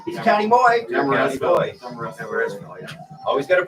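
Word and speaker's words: Demorestville: Demarest-ville, yeah. Always got to pronounce it right. Yeah. Demarest-ville.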